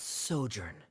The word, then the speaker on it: sojourn: Director Zosimos, how do you pronounce this word? How do you read? Let me see. Ah, that's sojourn.